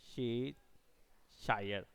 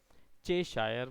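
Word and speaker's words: Cheshire: France में शे, शे, शे शायर, चे शायर बोल सकते थे, लेकिन उसको लोग प्रोनाउंस भी शे करते हैं, CHE को शे शायर कैट प्रोबेबली।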